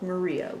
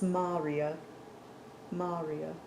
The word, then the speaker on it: maria: creating the Smooth Dark Maria we see today and you know what I pronounced that wrong it's Maria Maria the singular for Maria is May or mar mar I should have